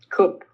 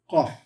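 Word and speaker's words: קוף: Don't say P. It's not a P. Kup. Kof. Yep. Kof. Ah. Which sounds identical, by the way, to the kop. They are identical. The kop with the dot is a K sound.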